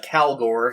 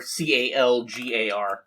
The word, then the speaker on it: Calgar: Well, it's actually pronounced Calgor, Calgar.